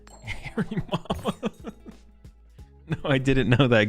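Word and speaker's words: Hariyama: Do you know that Haryama is actually pronounced Harry Mama?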